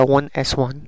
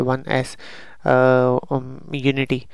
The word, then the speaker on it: 1s1: Electronic configuration है 1s1, इसको pronounce किया जाएगा 1s1, इसको ऐसे नहीं पढ़ा जाएगा कि 1s यूनिटी। इसी तरीके से हीलियम को 1s2 पढ़ा जाएगा, 1s² नहीं पढ़ा जाएगा, ठीक है ना।